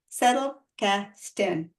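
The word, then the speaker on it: Zettelkasten: what it means or I broke it up into three words words settle Casten yes is z not an S but if you say settle Casten everybody will know what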